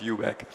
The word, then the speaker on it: eu.bac: eu.bac, eu.bac, that's a completely new pronunciation. Never heard it before. Normally people call us eu.bac. Especially people from UK like to call us eu.bac because they think eu.bac sounds somewhat rude. Normally we call ourselves eu.bac.